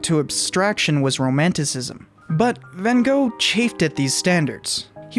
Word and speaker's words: Van Gogh: Van Gogh's name, but you guys are also mispronouncing his name. It's Van Gogh, but I'm just going to stick with Van Gogh.